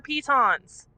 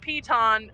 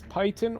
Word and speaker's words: piton: me some of your pitons oh here you want some pittance it is pronounced piton everyone says it wrong i think it's python or pittance it is piton please check the dictionary